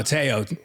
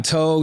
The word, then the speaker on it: Teo: No, Teo, like Manti. Oh, you're a Manti. But it's Teo. I've gotten Toe, Tao.